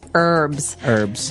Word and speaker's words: herbs: English, it's more commonly the it's more commonly pronounced as an a silent H. That's right. Herbs. Herbs.